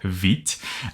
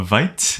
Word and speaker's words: Vite: get tempted to pronounce it a Vite because that's probably how you said it in English but it is named after quick and French which is Veet so I'll try my